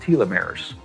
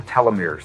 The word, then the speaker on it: telomeres: of DNA that are called telomeres, or telomeres. They're pronounced both ways.